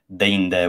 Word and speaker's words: deinde: Catullus 5, I think there's deinde, which is pronounced with a diphthong.